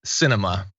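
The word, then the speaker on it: Sinema: YT Prenude says, doing theatrics with a surname pronounced Cinema.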